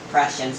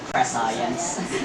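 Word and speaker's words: prescience: influence movement by science or prussians as it's supposed to be pronounced but we always call it pre-science since you know questions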